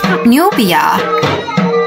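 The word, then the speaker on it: 努比亚: 这个努比亚的英文读音很有趣哦，就是牛加一个 r 的音，努比亚。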